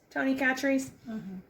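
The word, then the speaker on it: Tony Chachere's: on it which is the tony chatrious um tony catchers is that how you say it denise tony catrice yeah famous krill seasoning and this is the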